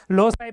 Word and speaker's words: loci: I think लोसाई pronunciation होता है।